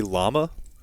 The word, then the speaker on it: llama: Okay, they say it's double L, so they say llama.